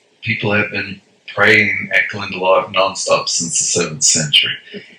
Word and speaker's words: Glendalough: pronounce it as well, because it doesn't look like that on the page. It's Glendalough.